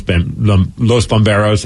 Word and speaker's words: bomberos: Bomberos. You don't need to roll your R's because there's no double R in this word.